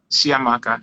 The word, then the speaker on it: Chiamaka: you know yes someone was asking your name is spelled c-h-i-a-m-a-k-a yeah shia maka there you go yeah so yeah and i